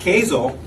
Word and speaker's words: Kazel: And so with that, I have invited Andy Taddeo and Beth Kazel, with a K, sounds like Hazel.